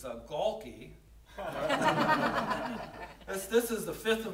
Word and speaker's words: Gaulke: Second one here is, last name is hard to pronounce. It's Gaulke.